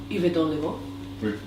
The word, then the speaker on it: Yverdon-les-Bains: Yverdon-les-Bains.